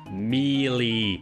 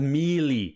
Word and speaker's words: Melee: of this sooner but Super Smash Brothers mey and yes that's how you pronounce it it's called mie Super Smash Bros melee